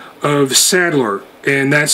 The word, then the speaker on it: Sadler: identified himself simply by the single name of settler and that's spelled s-a-d-l-e-r and he identified himself as the